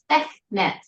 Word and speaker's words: Sekhmet: Am I saying you're very close, and everyone has trouble with it, but yeah, it's Sekhmet. Sekhmet. Because you have the KH, yes.